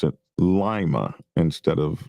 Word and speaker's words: Lima: They uh will the way you pronounce it is correct for the capital Peru, but Ohio, they pronounce it Lima instead of Lima.